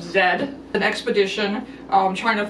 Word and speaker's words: Z: also a classic and the way the people in the uk pronounced it is the lost city of zed an expedition um trying